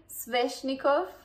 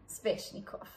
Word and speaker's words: Sveshnikov: Okay, another funny name, Sveshnikov. Some people say Sveshnikov, I've heard that. It's very subtle, but either we pronounce the V hectically or we don't. Sveshnikov.